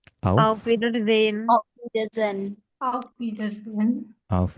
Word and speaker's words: Wiedersehen: S dibaca Z. Auf Wiedersehen. H tidak dibaca, H di tengah. Auf Wiedersehen.